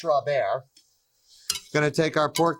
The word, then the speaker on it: sauce Robert: spelled like Robert, but it's sauce Robert.